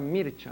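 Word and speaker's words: Mircea: famoso religió mano el es mircia se escribe mircia No pero se pronuncia mircha no cuando conversaba yo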